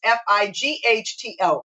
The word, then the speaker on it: phyto: And even though we spell it PHYTO, I would say sometimes FIGHTO, fighting off those things